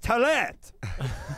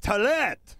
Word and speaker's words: Talette: It would come across as Toilette. Again, I'll pronounce it. Hello, ladies. My name is Talette.